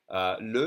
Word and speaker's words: le: We have a bunch of two-letter words, and the E in second position is going to be pronounced E, as in le.